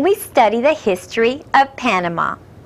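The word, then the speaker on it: Panamá: spanish it is pronounced panama notice nuevos amigos that it has an accent acento on the last a we will learn about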